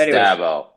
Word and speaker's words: Dabo: I thought his name was Dabo. I've heard 2 different pronunciations, and they're both ringing alarm bells in my head, boys. What are we doing here? Oh dear. It's Dabo.